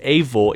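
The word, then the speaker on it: Eivor: protagonist number 14 our main protagonist's name is pronounced avor even though it's spelt e v i o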